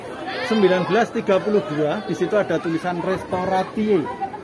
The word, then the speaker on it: Restauratie: Di situ ada tulisan Restauratie. Itu bacanya restorasi, itu bahasa Belanda, yang artinya candi ini ternyata sudah diperbaiki oleh pemerintah Belanda tahun 1932 sebelum kemerdekaan.